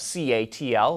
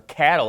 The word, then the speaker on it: CATL: percent and speaking of C ATL or cattle as everyone pronounces it Toyota just formed a